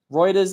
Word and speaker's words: Reuters: is settling the debate Reuters is like routers thank you Dan that's